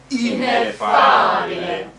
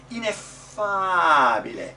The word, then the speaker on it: ineffabile: When you make the accent, we're doing the double F, that's very good. F. But don't make the accent with the F. It's not F, it's F. The accent is on the ah, not on the F.